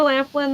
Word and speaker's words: Laughlin: the crazing it's funny they have it spelled like laugh but it's Laughlin yeah I know I always say it Laughlin but yeah well it it